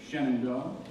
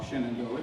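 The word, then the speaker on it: Shenandoah: and dramatic treatment of Shenandoa or Shannondoa depending upon how you might pronounce it.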